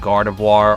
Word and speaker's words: Gardevoir: Noir, that, and Gardevoir are all the same sound at the end.